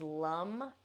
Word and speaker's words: lam: So the seed sound for the root is lum. It's spelled Lam.